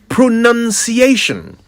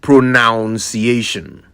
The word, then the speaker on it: pronunciation: let's start right there pronunciation not PR pronounciation the clue is in the spelling p r o n u n c i a t i o n pronunciation I think people are tempted to say pronunciation because the verb is pronounce so they're led to think the noun would be pronunciation but it's pronunciation like enunciation and I'm sure you